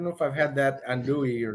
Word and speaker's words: andouille: Andouille. Andouille.